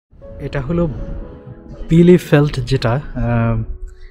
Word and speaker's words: Bielefeld: বিলে ফেল্ট, এবং এটা কি বিলে ফেল্ট না বাইলে ফেল্ট? আসলে জার্মানরা বলে বিলে ফেল্ট, এবং আমি আসলে বি আই দেখে সেটাকে বাইলে ফেল্ট বলছিলাম।